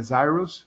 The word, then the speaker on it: Cirrus: A pronúncia em inglês é Zyrus, mas não dá para falar Zyrus em português, então a gente fala Cirrus mesmo.